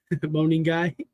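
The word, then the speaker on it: Monangai: Moaning guy, I said it right, Jamie.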